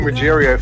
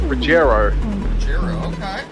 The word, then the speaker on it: Rogerio: Roger we've been calling rogerio for the longest time yeah Braswell told me yesterday it's actually pronounced rugero because I mean we've